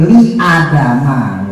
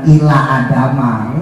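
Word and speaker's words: لِآدَمَ: Lil malaikat judu liadama. Bukan ila adama. Emak mamak ya. Liadama.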